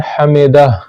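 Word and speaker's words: حمده: سمع اللہ لمن حمدہ، آخر میں یہ ہا ہے تو اس کو جنبش کے ساتھ پڑھنا چاہیے، آخر میں جو ہا ہے اس کی بو آنی چاہیے کم از کم، سمع اللہ لمن حمدہ نہیں پڑھنا چاہیے بلکہ سمع اللہ لمن حمدہ پڑھنا چاہیے تاکہ آخر میں ہا کی بو آ جائے۔ سبحان ربی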